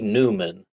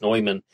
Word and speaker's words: Neuman: And he proposed that the AEN could be Alfred E. Newman, maybe pronounced Neumann.